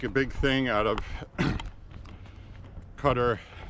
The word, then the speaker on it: Qatar: big thing out of Cutter. Qatar, whatever you want to pronounce it. I've always pronounced it Qatar. Seems like the rest of the plane saysQatar. Q A T A R. Whatever the case is.